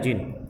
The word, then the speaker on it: djinn: जिन DJINN है। देखिए इसको प्रोनाउंस किया जाता है जिन।